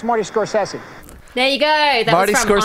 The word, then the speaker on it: Scorsese: you say I have a clip of scorsi pronouncing it for you guys can you roll it hey it's Marty scorsi there you go that Marty scorsi Marty scorsi